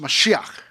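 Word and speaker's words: מָשִׁיחַ: It's pronounced mashiach.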